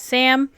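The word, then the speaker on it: CSAM: And think instead of CP, it's called child sexual abuse material, CS, pronounced as Sam.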